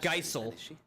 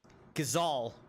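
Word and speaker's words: Gysahl: is all green seeds I still pronounce it wrong not Geisel gazal I just of course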